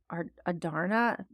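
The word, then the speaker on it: Andarna: I loved how we came to know more about Adarna, that's how we say her name, in her kind, especially while seeing still some of her snark as a teenage dragon.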